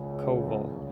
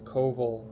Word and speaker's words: Koval: last name what is Koval so to pronounce it it's a strong K and the letter where